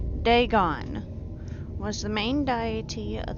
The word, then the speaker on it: Dagon: ancient Philistine legend of deeon the fish God I've been pronouncing it wrong day gone was the main diety